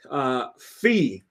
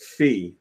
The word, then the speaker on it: Fe: a chance to try fee which is apparently how it's pronounced fee that's from some builders